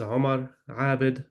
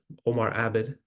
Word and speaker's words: Omar Abed: My name is Omar Abed, Omar Abed, if you want to pronounce it that way.